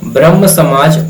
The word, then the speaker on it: ब्रह्मो समाज: यहां पे थोड़ा सा उच्चारण देखिए कि ब्रह्म समाज से अलग होकर ब्रह्मो समाज ऑफ इंडिया की स्थापना किसने की? तो देखिए ब्रह्म समाज तो राजा राममोहन राय ने बनाया लेकिन इसको अलग किया गया और ब्रह्म समाज ऑफ इंडिया ये थोड़ा सा बंगा उच्चारण आता है बंगाली तो बांग्ला बोलते